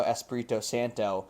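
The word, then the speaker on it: Espírito Santo: No, Espirto Santo. Yeah. Nuno Esprito Santo.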